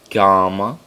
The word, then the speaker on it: gamma: So it's alpha, beta, gamma. That's gamma. Gamma. Like a g sound, as in get.